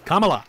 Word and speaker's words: Kamala: And like if if we were in Camala Harris's presidency, Kamala. Um you sound like a That is a genuine That is just a genuine mispronunciation part.